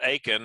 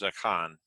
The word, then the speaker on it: Achan: if you uh again if you're from uh west texas that's going to be pronounced aiken and that's what i'll probably fall into but the hebrew pronunciation of it is a con and so i'll try